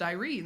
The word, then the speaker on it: Irene: So clearly all of you have agreed that Irene is pronounced Irene. That's lovely for all Oh, of you. yes. But in our home, we say Urine.